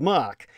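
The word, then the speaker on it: marque: these commissions letters of mock spelled marquis but pronounced letters of mock authorized the bearers regardless of their country of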